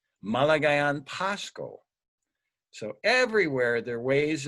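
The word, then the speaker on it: Maligayang Pasko: And you know how they say it there? They say Malagayan Pasko.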